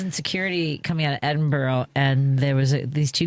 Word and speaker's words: Edinburgh: I was in security coming out of Edinburgh and there was these two guys.